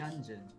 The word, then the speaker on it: Hyunjin: Hyunjin. It's what? Hyunjin, but they always pronounce it wrong. Hyunjin? So I'm like, Hyun, Hyun. Hyunjin.